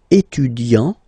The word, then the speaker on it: étudiant: Okay, so it will of course change a little bit the pronunciation, because you will pronounce it at the masculine form. Il est étudiant.